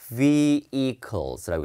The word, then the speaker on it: vehicles: 그 다음에 여기 H 발음 안 하는 거 알죠? vehicles라고 해요.